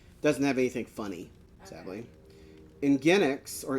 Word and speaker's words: Nginx: Nginx, or Nginx, depending on how you pronounce it, is...